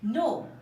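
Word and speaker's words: know: kite মানে হচ্ছে ঘুড়ি নো কে এন ও ডাব্লিউ নো নো মানে হচ্ছে জানা এখানে কে টা সাইলেন্ট আকারে আছে আছে এটার এক্সট্রা কোন রুলস নেই শুধু মনে রাখতে হবে নাইফ কে এন আই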